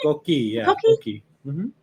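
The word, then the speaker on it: coquí: Am I pronouncing that The right? Koki, The yeah, coqui.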